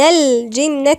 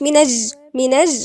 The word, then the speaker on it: الجنة: الجيم دي لما جت يبقى نقول اللام دي لازم ننطقها، اللام تنطق لأنها لام قمرية. من الجنة، ما نقولش منج غلط، من الجنة في حرف